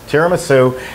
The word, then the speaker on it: tiramisu: up on the signs tiramisu and then below it put terra as in land ma is in mother and soup tara